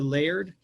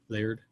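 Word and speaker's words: Laerd: a premium membership to layered l-a-e-r-d that's how you pronounce that word that name layered uh it's a great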